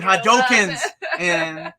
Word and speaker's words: Hadouken: muscles reading comics no the omnis doing hadoukens that's how you say it damn it's been years